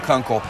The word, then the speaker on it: Kunkel: They're going to need a lot of that from Kunkel, which rhymes with uncle.